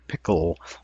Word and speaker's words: pickle: and the same with the word pickle all itself is its own syllable okay let's take a